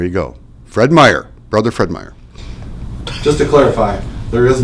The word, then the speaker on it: Fred Meyer: out and there you go Fred Meyer brother Fred Meyer just to clarify there is no apostrophe us